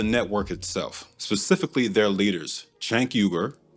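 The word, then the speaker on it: Cenk Uygur: This one's about the network itself, specifically their leaders, Chank Yuger, that's how the founder of TYT, Chanker, pronounces his name, by the way, and the self-labeled politically homeless and a consparion.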